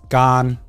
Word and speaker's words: Garnt: Like if someone calls me Gig or Garnt, like my family to this day still call me Gig. So like, I'm used to hearing that. And the fact that it's pronounced like Grant. You know, Yeah.